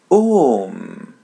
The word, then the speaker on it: um: Om. Letter M is pronounced as English M.